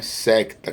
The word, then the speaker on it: secta: de Matriz idiomática Latina cuja pronúncia é secta que pode eh expressar